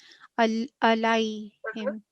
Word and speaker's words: عليهم: This is haruf leen because the preceding letter has got fatha. And this is ya sakin, so it is pronounced for 2 seconds, but it is a soft elongation. Alayhim.